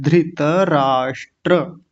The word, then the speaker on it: धृतराष्ट्र: ये धृत नहीं होता, धृत, ध्री होता है, धृत राष्ट्र। ठीक है, धृतराष्ट्र।